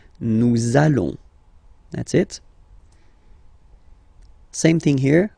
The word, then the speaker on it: nous allons: it does mean that you will have to pronounce this z sound, okay, listen to me, nous allons, nous allons. Okay, nous allons.